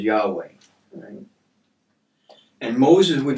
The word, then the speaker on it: Yahweh: right so um the the typically accepted theologically pronunciation of the name is yahweh and moses would not